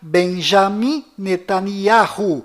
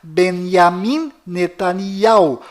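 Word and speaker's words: Binyamin Netanyahu: bom toca no assunto fora de Israel o nome deste primeiro-ministro é pronunciado Benjamin metaniarro mas dentro de Israel o nome dele é pronunciado benyamin netanyahu confira fora dentro fora bennigan's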